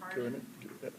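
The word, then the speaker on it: Geranen: And I have no objection to the statements that were made by Susan, forgive me if I mispronounce his Garanin? Garanin, yeah. Garanin.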